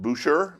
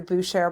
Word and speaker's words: Buescher: Yeah, I think it's pronounced Boucher. Boucher. I don't know if we're in Louisiana. We're moving that way, but it's Buescher.